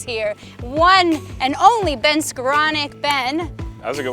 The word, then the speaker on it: Skowronek: our fabulous rookies here one and only ben skaronic ben that was a good way to pronounce my name thank you do you have